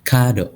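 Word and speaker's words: カード: Ada kado, artinya kartu. Ya. Jadi untuk katakana, untuk memanjangkan huruf tuh hanya tinggal ditambahkan garis saja seperti ini, Bayusa. Ditambahkan garis seperti ini.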